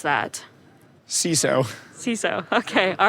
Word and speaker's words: CISO: Security Officer correct how do you pronounce that ciso ciso okay all right it should be Sizzle because it sis uh ciso okay so I learned something today it's a sisso there you go there we go change your